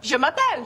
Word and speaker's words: Je m'appelle: Okay, let's just let's try it one syllable at a time. Okay, so repeat after me. Je Je m'a m'a pelle pelle Great. Okay, faster. Je Je m'a m'a pelle pelle Je m'appelle.